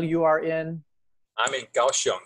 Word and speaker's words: Kaohsiung: We say Kaohsiung.